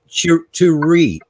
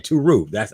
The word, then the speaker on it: Terui: Well, later on in the show, we will be welcoming Chie, and it's Terui. And that's the correct pronunciation. Terui.